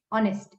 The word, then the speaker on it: honest: It's honest. H is silent.